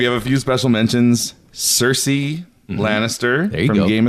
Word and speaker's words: Cersei Lannister: Where the full Cersei Lannister.